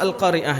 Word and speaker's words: Al-Qari'ah: Tapi tak marbutah itu kalau diwaqafkan menjadi hak besar. Hak besar. Hak yang satu makhraj keluarnya dengan apa? Hamzah di pangkal tenggorokan. Jadi bacanya Al-Qari'ah. Ya, seperti itu. Ya, Al-Qari'ah, hak besar. Jangan dibaca Al-Qari'ah. Jangan dibaca menjadi hak kecil.